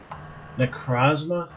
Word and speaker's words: Necrozma: 8 that i've never heard of before what necrozma i guess is how it's pronounced oh yeah it's a legendary and it